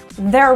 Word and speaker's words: they're: they are turned severe it's exactly the same pronunciation as t-h-e-r-e there so in a sentence like they are bringing the tickets in speech it's reduced to there they're bringing the tickets and